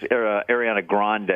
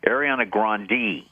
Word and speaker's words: Ariana Grande: By the way, her name is not pronounced Ariana Grande. She's making a big deal now. She wants people to pronounce her name Ariana Grande.